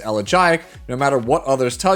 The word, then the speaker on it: Elegiac: Next we come to Elegiac Candle, and yes, it is pronounced Elegiac, no matter what others tell you on their videos or on their streams.